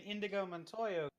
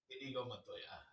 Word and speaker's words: Inigo Montoya: Okay, so it's like an Indigo Montoya thing. Mm-hmm. Well, he got to live after he he did get to live. Also, I said his name wrong, but you get what I mean. Inigo Montoya.